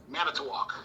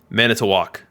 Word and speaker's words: Manitowoc: people can hear you tell us how to pronounce kaz cappy's city it is manitowoc man it's a walk all right i got it are you going